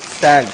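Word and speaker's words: Tsang: ई आई यू एन ह्य सन T silent T एस ए एन G China तो आ round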